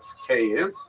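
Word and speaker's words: Kyiv: Uh but they centered around the city of cave. That's the Ukrainian pronunciation by the way that's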